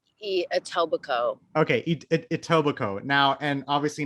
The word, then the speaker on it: Etobicoke: In that documentary, they famously call it like Etobicoke. They're saying it wrong, so it just reminded me of that. But it's Etobicoke, yeah.